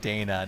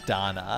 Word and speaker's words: Dana: of the game and it's lacrimosa of Dana not Donna here's the thing so here's the thing technically the thing technically if you want to say at the Japanese it'd be Donna okay being you know